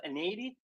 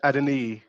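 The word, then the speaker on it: Adeniyi: Um, so we have Anady. Uh, am I pronouncing that right? It's Adini.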